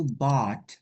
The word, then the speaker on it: bought: Nah, kemudian verb 2 dari membeli itu bought, pake T, enggak pake U lagi, bought.